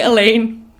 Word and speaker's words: Alain: And he's like, the manliest man you've ever seen in your entire life, that I've been calling Alain the whole time.